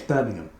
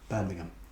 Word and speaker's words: Birmingham: And yes, Birmingham. That's how it's pronounced. Birmingham.